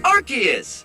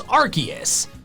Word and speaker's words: Arceus: The official pronunciation is arceus. Arceus. Which is what I say. In case you're confused, it used to be Arceus, but then they changed it to arceus because Arceus includes arse, which is how the British